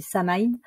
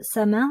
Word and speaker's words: Samain: gaélique celtique et alors je sais pas très bien le prononcer je crois que c'est sa main donc ça m'a ça